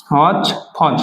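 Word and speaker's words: hotchpotch: এরপরে মনে আমরা একটা ভাব নেই, যদি বলি haven't I cooked হচপচ, হচপচ মানে খিচুড়ি, উচ্চারণটা হবে হচ পঞ্চ, হচ ফচ মানে কি খিচুড়ি, হচ ফচ মানে খিচুড়ি।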